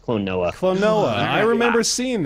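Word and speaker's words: Klonoa: guys today's game was Colona 2 Luna a yes all right oh I remember that thing yeah NOA I always say it wrong it's Clon NOA Clon NOA I remember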